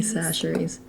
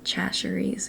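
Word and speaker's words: Chachere's: Tony Sasheries, which it's pronounced sasheries. A lot of people mispronounce that. Yeah. Um, my boyfriend says Chasheries, and I'm Well, I think he's finally figured it out, but um Yeah.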